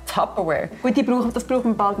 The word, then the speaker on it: Tupperware: «It's a flashback!» Es ist ein Tupperware mit «A». Ihr habt es «A» in eurer Sprache. Tupperware. Sagt einfach Tupperware.